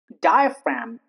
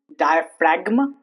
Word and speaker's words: diaphragm: G before M. Flem diaphragm. It's not flegma. Diaphragma. Those are wrong.